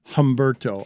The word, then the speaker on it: Humberto: that you need to make the H silent when pronouncing Humberto I'm pretty sure Hernandez